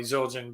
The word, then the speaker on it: Zildjian: remember growing up and be like everybody always pronounced zildjian correctly zildjian like what kind of drums do you play